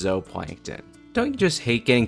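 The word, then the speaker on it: zooplankton: Fry feed off microscopic zup plankton in the water. What's that? Oh, sorry. Apparently, Zup plankton is actually pronounced zoplankton.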